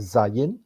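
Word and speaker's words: Zayin: sains ya hurufnya dan cara pengucapannya adalah Zayn dan kemudian angka kematiannya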